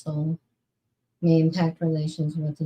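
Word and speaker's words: Seoul: 300 South Korean nationals bias has caused anger and seal and may impact relations with the US. Oh, oh yeah, it is pronounced soul may impact relations with the US.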